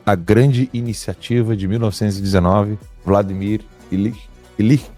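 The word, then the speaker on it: Vladimir Ilyich: Vladimir ilich é assim que pronuncia.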